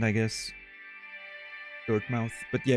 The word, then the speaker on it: Dirtmouth: Not sure if I come across as annoying, but I think it's pronounced Dirtmouth. Old-timey UK thing, like Innsmouth.